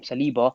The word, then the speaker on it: Saliba: Saliba.